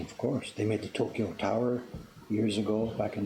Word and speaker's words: Tokyo: It's actually Tokyo, 4 syllables.